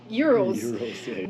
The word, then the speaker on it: gyros: They call it gyros but in Greece it's called euros.